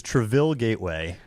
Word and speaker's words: Traville Gateway: of that road yeah how do you say it is it is it Trav Trav what is it I've listened all week with great enjoyment to your attempt to uh to speak it it is traville Gateway traville well who told